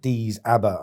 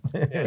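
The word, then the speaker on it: Déise: I was calling it Dees Abba, and I got a mate who's Irish, right? And he sends me the pronunciations of everyone I get wrong when he listens to the podcast. It's the nickname for Waterford. Daisha.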